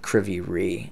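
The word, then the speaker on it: Kryvyi Rih: and again that's uh kriviri is i believe the the pronunciation of that of that town but uh we'll continue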